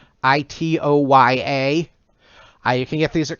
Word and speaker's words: Itoya: These are art portfolios from the company Itoya, I think it's pronounced. Itoya.